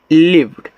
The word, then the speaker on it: lived: LIVED, तो इसको पढ़ते हैं लिव्ड, तो यल से आपका ला, और यहाँ पे आई से छोटी की मानता। देखो LIVE को आप लिव पढ़ते हो, लिव ऐसे, इतना सिर्फ ये आप पढ़ते हो लिव। अब यहाँ पे डी लगे तो आपका लिव्ड हो जाएगा, यानी कि इस तरीके से आधा वा, और डी से आपका डा लिव्ड।